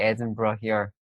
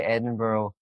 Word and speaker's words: Edinburgh: and Scotland's I got back to Glasgow not long ago I was in Edinburgh as you guys said we say Adam brought here Americans say Edinburgh yeah because Yaron Brook was speaking with famous